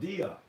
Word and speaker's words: Dia: It's an app called DIA, It's spelled D-double-I-A, Dia.